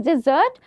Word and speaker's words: dessert: Dessert and desert. Desert is when you go to Sahara Desert. It's filled with sand, right? There's no way where you can get some water or anything. So that's desert. But this is dessert. Dessert. Please make sure you pronounce it correctly.